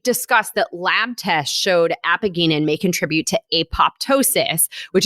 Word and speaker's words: apigenin: So one plant compound in celery is called, and Liana, tell me if I'm pronouncing this wrong, apigenin?